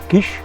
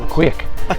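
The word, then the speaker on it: quaich: fast cup well apparently it's called a quiche a quick no it's a quake it's a scottish pronunciation it q-u-a-i-c-h so fast to get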